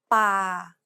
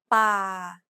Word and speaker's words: ป่า: Remember, Thai contrasts between a hard B, an unaspirated P, and an aspirated P. This example uses an unaspirated P sound like the P in spin.